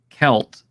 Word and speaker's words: Celt: And I do recall you saying that Conan was a proto-Celtic, and therefore, as we pronounce, Celt with a hard K instead of a soft C, then Chimeria would have been a more proper way to pronounce it.